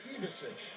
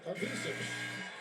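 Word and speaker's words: Ivišić: Well, his brother who plays at Illinois, Tomislav, it's Ivisic. This one wants it Ivisic.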